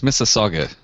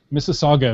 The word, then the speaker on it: Mississauga: I think it's Mississauga. Mississauga is what I was going to go with. It's like Mississippi, but with an auga at the end.